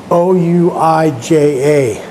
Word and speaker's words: Ouija: You spell it O-U-I-J-A and pronounce it Ouija.